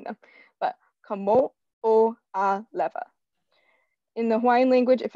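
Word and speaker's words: Kamoʻoalewa: I always pronounce these fast just because I've gotten used to pronouncing them, but Kamo'olewa.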